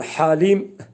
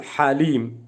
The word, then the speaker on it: حليم: Biz sohbetimizin başına dönelim el Halim kalın h harfi boğaz harfi ile okunuyor el Halim yani he değil he olarak okumayın Elham okunuşu Ya Halim o h harfini boğaz harfini kalın h harfidir o şekilde o harfi çıkartmaya telaffuz etmeye çalışalım Evet manası nedir affı